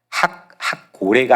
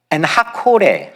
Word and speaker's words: 엔학고레: 그래서 거기를 엔하꼬레라고 불렀는데, 엔은 우물이고 학고레가 아니라 원래 발음은 하코레. 콜, 영어로 콜이 뭐죠? 불렀다는 거잖아요. 콜. 히브리어도 똑같아요. 어떻게? 콜입니다. 그러니까 엔하코레, 하코레는 부르짖는 자라는 뜻입니다.